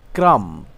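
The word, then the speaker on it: crumb: চিরনিী আশ্রানো claim claim অর্থ আহরণ করা ওঠা ক্রাম ক্রাম অর্থ ছোট টুকরো ক্ষুদ্র টুকরো করা ডাম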